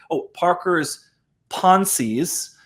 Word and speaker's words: Parker's Pensées: like stoic fashion, you've got the conversations that Parker's Pensées, right? It's how you pronounce it.